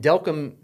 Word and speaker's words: Delcambre: And Delcambre you know, sounds like welcome. Delcambre welcome.